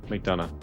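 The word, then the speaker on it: McDonagh: McDonough.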